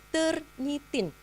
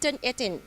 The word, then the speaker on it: Turnitin: Ada satu saya akan perkenalkan dulu satu tools namanya turnitin. Sebenarnya turn it in ya, turn it in gitu ya.